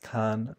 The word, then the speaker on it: kan: They're pronounced kan, pon, and kat.